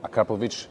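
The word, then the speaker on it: Akrapovič: And what we can already see here with the GTI, look at that, this huge diffuser and a Krapovich exhaust, or Krapovich is the original pronunciation, really cool with these holes on the inside, so that looks fancy, will give you an extra sound.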